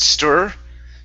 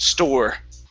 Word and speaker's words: store: Here you said stir. Okay, give me an or sound. Store.